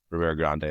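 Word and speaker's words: Ribeira Grande: I never can say it how they say it. It's Ribera Grande, that's how it's said.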